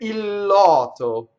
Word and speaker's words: il lotto: So, if you have one word that ends in L and the next word begins with L, it's pronounced like it's one word with a double consonant.